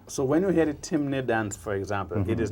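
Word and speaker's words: Temne: among the people uh that known as timy Tim timy t m n e t m t e m n in caraku they pronounce it Tim uhh but it's timy in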